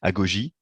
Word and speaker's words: Agogy: présenter la solution que tu as développée avec Agogy. C'est bien comme ça qu'on prononce, hein, Oui, oui, Agogy.